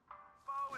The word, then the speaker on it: faux: Faux is a French word. It's got an X in it, but you don't even pronounce the X.